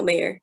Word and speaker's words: Mayer: Is it Mayer? Mayer. Is that how you say it? Mayer Meyer? No, Mayer.